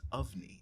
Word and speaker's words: Ofnie: It's pronounced Ofnie. It's right. O-F, like of.